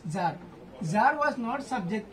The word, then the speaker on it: tsar: Russia was an autocracy and even at the beginning of द 20th century ज़ार, this is नॉट सार, okay, TSAR is pronounced as ज़ार.